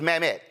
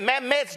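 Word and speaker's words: Mamet: let's just be real David Mt I think that's how his name is pronounced is a legendary screenwriter are you trying to convince me that if your last name was mamt and you asked for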